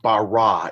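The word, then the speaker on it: בָּרָא: The technical form of the verb would be pronounced bara. It's in Genesis chapter 1, verse 1. It starts off Bereshit, bara, which is in the beginning, and then you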